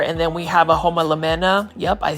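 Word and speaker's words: Homalomena: And then we have a homolemena.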